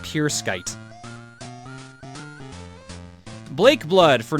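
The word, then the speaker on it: Pruskite: P-R-U-S-K-I-T-E apparently is pronounced Pure Skite.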